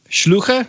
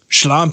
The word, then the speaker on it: Schlampe: Schluche? No. How do you say it? Oh, man. It's what you call a slut. Schlampe.